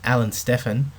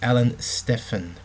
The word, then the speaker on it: Alan Stephan: Stephan sorry I should say his name is Alan Stefan because his son-in-law actually got in touch with me and corrected me on the pronunciation so it's Alan Stefan okay now his protein drink is shown here